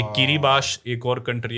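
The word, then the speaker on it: Kiribati: ये किरीबाश एक और कंट्री है। किरीबाती लिखते हैं स्पेलिंग में।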